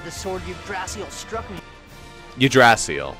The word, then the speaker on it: Yggdrasil: Yggdrasil, that's how you say it. Like, you barely pronounce it, so like, Yggdrasil. It's like the G's are silent.